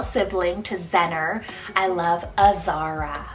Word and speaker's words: Azara: a wonderful girl sibling to zenner I love Azara it's about a said z a r a